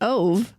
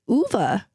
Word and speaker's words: Ove: and comparing a man called we've been saying O but it's not it's it's UA or if you're watching the movie all yes